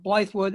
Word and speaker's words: Blythewood: I hear generally the pronunciation for Blythewood is Blythewood, and the other is Ackert Hook.